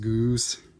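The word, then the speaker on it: Ghuus: I think this little guy's name is, it's G-H-U-U-S. I believe it's pronounced Goose.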